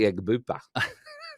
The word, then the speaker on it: Egbuka: the season he's like, it's actually Egbuka.